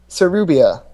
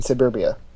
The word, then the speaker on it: Sarubia: Sarubia, which I keep in my head pronouncing Suburbia.